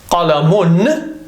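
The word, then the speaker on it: قلم: But as I said, if you stop at the word, it's pronounced with a sukoon and it becomes qalam.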